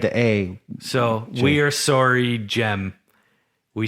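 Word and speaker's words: Cem: you did so cause it looks like gem it's c-e-m yeah and they were like it's a j yeah but he had the a so we're sorry jem we said your name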